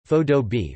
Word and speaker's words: faux-dobe: but with stucco surfaces, sometimes referred to as faux-dobe, pronounced as one word, faux-dobe, reflecting the historic style.